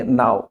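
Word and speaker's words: know: तो जब कभी भी के बाद एन आता है और उस शब्द का आपको उच्चारण करना हो तो के साइलेंट रहेगा। उसका उच्चारण एन से करेंगे। नाउ नाइफ नॉलेज नीड आटा गूंथने को कहते हैं।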